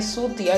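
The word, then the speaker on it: Chutia: बिना ले नहीं सकता वेल एसएमज में इसको प्रोनाउंस करते हैं सूतिया क्योंकि च एसएमज में स प्रोनाउंस होता है बट लिखा इसको ऐसे ही जाता है खैर सुहंगमुंग प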